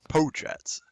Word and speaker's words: Potratz: last name for us potratz poe chats um and if you ever need a reminder it's spelled pot rats strats pro strats pro